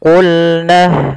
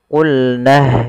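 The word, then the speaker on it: قلنا: Huruf qaf pangkal lidah kita harus kita angkat sehingga dia makhraj daripada huruf qaf itu pangkal lidah dengan langit-langit atas, maka dia menempel. Maka qa qi qulna lamnya tipis.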